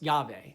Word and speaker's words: Yahweh: The divine name of God, YHVH, is most often pronounced Yahweh. However, the actual pronunciation is a secret. The secret is that it's not a word, but the sound of breath being inhaled, YH, and exhaled, VH.